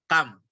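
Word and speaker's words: كم: Ini pertama, ini bacanya adalah kam. Ini semua kita sudah tahu, bacanya kam.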